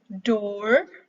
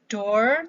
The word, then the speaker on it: door: Sebagian ada yang mempronounce door tapi dengan R-nya yang sangat jelas, door gitu ya, bukan door tapi door. Ya. Maka R-nya itu di situ dalam kurung, door.